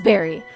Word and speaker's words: Barry: Chapter 3, Barry, the town, whose name is Barry. Like a berry, but not spelled like a berry, because that would be too obvious.